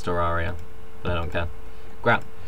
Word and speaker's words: Terraria: it completely wrong because not Terraria it's Terraria but I don't care